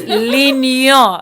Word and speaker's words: L'Union Suite: You got to say it right. L'Union Suite. That ain't even it, Winie. That ain't it. It's L'Union.